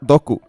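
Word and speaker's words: ドック: En japonés se usa la palabra en inglés, escrita en katakana y pronunciada doku.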